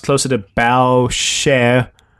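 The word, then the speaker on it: Boucher: pronounced close to the bow share first part like the front of a ship and the second part like the singer share yeah it's interesting John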